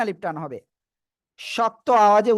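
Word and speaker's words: ش: আর এ অক্ষরে 3 আলিফ টান হবে, শক্ত আওয়াজে উচ্চারণ হবে।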